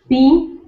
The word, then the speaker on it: 四: You will notice there's an arrow goes down. Okay. That means the fourth tone in Chinese language, which means you need to the tone goes down directly, drops.